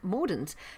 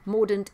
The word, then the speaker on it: Mordaunt: to just take a quick look at penny mordent now if you were a brexiteer you were